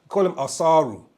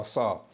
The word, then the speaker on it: Asar: They call him Asaru. That's the name they give, Asaru or Asar. Yeah, but his name is Asar. Okay, and it deals. The reason why it's pronounced like that is because the word means to extract.